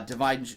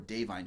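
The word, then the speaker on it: Da'Vine: in this movie uh Divine uh dine Joy Randolph I'm sorry I've said it wrong before dine Joy Randolph is wonderful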